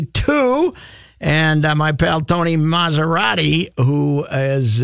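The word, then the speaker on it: Massarotti: And my pal Tony Maserati, who is a... it's spelled like the car? No, it's SS, but it's Maz.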